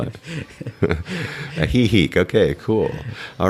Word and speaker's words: Ajijic: I'm glad you pronounced that because I could never. Ahihik.